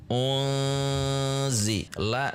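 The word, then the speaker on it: أُنْزِلَ: Ini bulat dahulu karena ini dhammah, kemudian yang ini tidak membulat bibir kita, kemudian zi juga tidak membulat. Perhatikan. Unzi. Unzi. La satu harokat.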